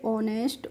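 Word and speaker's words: honest: तो यहां पर भी हम एच को नहीं पढ़ रहे हैं तो हम ओ एनई एसटी को पढ़ेंगे तो क्या हो जाएगा ओ से हो जाएगा ओ और एनई एसटी से हो जाएगा नेस्ट तो इसको पढ़ लेंगे ऑनेस्ट ऑनेस्ट की हिंदी मीनिंग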